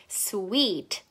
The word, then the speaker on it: sweet: 달콤한 것은 영어로 sweet, sweet. 자, we 소리에 집중해서 sweet라고 발음을 해주세요.